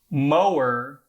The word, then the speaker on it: mower: has 2, e and Similarly, with the word more versus mower. More is 1 syllable because it just has o, more, whereas mower has o, and mower. In fact, some American dialects,